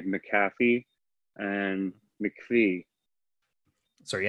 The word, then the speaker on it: McAfee: it when you look at the word it's pronounced McAfee I've also heard people say mafy and MC so are you asking which is